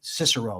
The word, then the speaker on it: Cicero: I mean, Cicero or Kickaro, however you want to pronounce it.